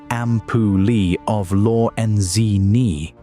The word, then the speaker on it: ampullae of Lorenzini: Like all sharks, megalodon carried a network of electrical receptors around its snout called the ampullae of Lorenzini, pronounced ampullae of Lorenzini.